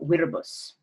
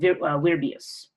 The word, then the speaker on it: Virbius: Associated with Diana at this shrine was the Roman hero Viribus, or Viribus. Sorry, I'm saying it wrong. Virbius. I'm adding an extra I.